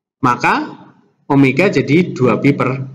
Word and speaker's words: omega: Seringkali siswa keliru membacanya W ya, bukan W. Ini bacanya omega. Omega, bukan W.